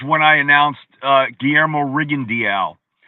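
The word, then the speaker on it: Rigondeaux: I announced uh GMO Riendial. The way his name is spelled, it looks like Riendo, right? Right. But I went to him and he said, "My name is GMO Riendial."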